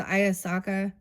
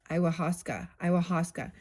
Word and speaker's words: ayahuasca: Oh, is this the Ayasaka? I don't know is that how you say it? Ayahuasca.